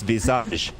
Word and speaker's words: Visage: Visage is clearly the full French. Yeah, the full French. It's Visage.